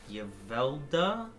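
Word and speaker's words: Yevelda: Ylda. Ylda. How do I spell that?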